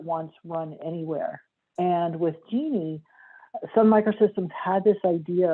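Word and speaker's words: Jini: i worked on the genie project it's spelled j-i-n-i but pronounced like the woman's name genie and genie was really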